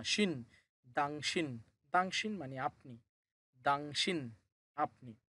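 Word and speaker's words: 당신: দাংশিন।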